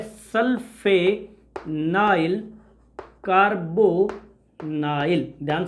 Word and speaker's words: sulfanyl: अब इसका प्रीफिक्स जो होता है ये थोड़ा सा डिफरेंट होता है, सल्फेनाइल कार्बोनेट नाइल, ध्यान से सुनना, मैंने स्पेलिंग को प्यार से लिखा है SULFANYL, सल्फेनाइल।